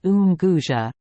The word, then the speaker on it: Unguja: of all expeditions into the interior, and Unguja, pronounced Unguja, the big town of that island, the place where the preparations for plunging into the unknown were made.